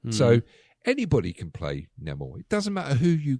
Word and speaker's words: Namor: A character called Namor. Yeah. Namor or Namor? Namor. Actually, we call him Namor because that's how it's pronounced now.